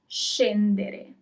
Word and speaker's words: scendere: If there isn't the H, then it is sh. So let's do some examples. To get off, scendere. Scendere. Okay, you pronounce all the letters.